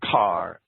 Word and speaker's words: Caer: Well, let me say that that word Caer, or Car, C-A-E-R, I'll pronounce that Caer, right? Or Car, is from a Hebrew word which means city.